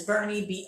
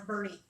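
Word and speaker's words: Boerne: of another Castroville Castroville yeah and then there's Bernie BOE our and yes crme must pronounce Bernie yeah it's a little weird here but it's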